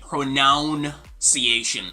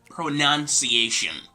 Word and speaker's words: pronunciation: getting tripped down which makes them say something like pronounciation or pronunciation or something like that this is pronunciation pronunciation right pronunciation now we're going to